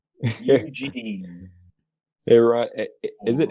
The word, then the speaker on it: Ǣronn: That's Pronounced Eugene. Aaron, is it Aaron? Aaron, yeah.